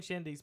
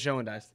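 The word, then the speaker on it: Schoendienst: It's not even spelled nowhere even like how I just said it. It's spelled like Schoendeist. Really? That's literally what I thought it was. I had never heard it read. I had never heard it pronounced. I've only ever seen it on paper or like playing video games. Shandies, I always thought it was Schoendeist. I'll be honest. It is not Schoendeist.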